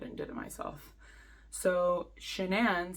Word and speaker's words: Sha'nann: Cheyenne, it's not Cheyenne, it's Sha'nann.